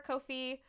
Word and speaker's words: Ko-fi: wanted to pronounce uh kofi right um and i was reading how to pronounce it and it rhymes with no fee is what they said which i think is